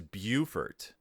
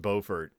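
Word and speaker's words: Beaufort: which is interesting because I think of that name as bufort uh right that's how I've heard it pronounced but it's obviously pronounced bofer because his name is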